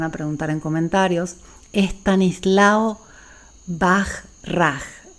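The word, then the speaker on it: Bachrach: preguntar en comentarios Stanislao baj raj se pronuncia pero se escribe Bach ch rat ágilmente es uno de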